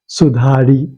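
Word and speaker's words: सुधारि: Charan Sarojraj, Nijman Mukur Sudhari. You said it's a small ikar. That is not pronounced, it's silent. Okay. So it will remain to be Shri Guru Charan Sarojraj, Nijman Mukur Sudhar, Okay.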